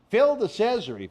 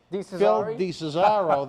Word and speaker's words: Phil DeCesare: Pronounce it wrong like I did when I called him, I think, Phil DeCesaro the first time, it rhymes with Treasury.